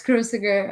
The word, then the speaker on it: Cruciger: Yes, Cruciger.